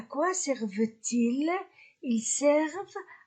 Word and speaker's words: servent: À quoi servent? E-N-T du verbe pluriel ne se prononce pas.